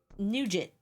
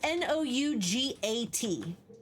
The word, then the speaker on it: nougat: That's Nougat. Nougat. Yeah, it's close, but it is one of those weirder words.